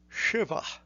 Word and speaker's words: Shiva: The correct pronunciation begins with a sha and is shiva.